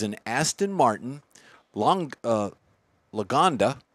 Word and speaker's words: Lagonda: next one is an Aston Martin Long uh Lagonda it's an all-terrain spell that Mike Lagonda l-a-g-a-n-d-a you got it which is the name